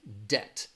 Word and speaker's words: debt: sound and it's going to sound like this debt alright you go into debt where you are